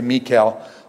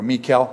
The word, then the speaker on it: Michal: Let's just, I just say Michal, like the Hebrew, Michal. They used to have a song, Michal, my bell. Anyways, someone heard it. Anyways, so anyways, Saul's daughter, Michal, was in love with David.